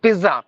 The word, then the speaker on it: pizza: spelling is Zed but there is no z sound at all you have to give the yes sound so Pizza P like